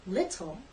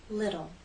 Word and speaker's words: little: you've probably noticed that Americans do not say little we say little what happened to the T in these words